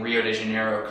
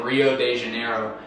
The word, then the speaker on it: Rio de Janeiro: saying Rio de Janeiro cuz it's really pronounced H what is it yeah yeah we don't have we don't have long long O's or long A's right yeah so you have both the r is the H and the O is the U and the d e